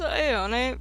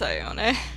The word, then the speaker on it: Ione: It's Ione. Also, which is not a traditional way to pronounce Ione, but when I found the name, the website lied to me, so.